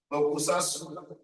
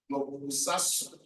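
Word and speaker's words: 黙殺: I pronounce it the way I see it, but I know that T is silent.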